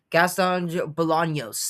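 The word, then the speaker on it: Gastón Bolaños: Uh, Jang Jong Lee versus uh, Gaston Bolans and is how you pronounce that? Yeah, Gaston Bolognos.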